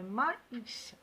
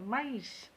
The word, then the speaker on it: maïs: باش ننطقو لو أ لو مايس ننطقوه وحدو والإي ننطقوه وحدو. c'est-à-dire deux voyelles. le maïs، le maïs.